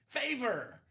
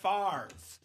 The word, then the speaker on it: Favre: Hey, we got your boy Brett Favre down.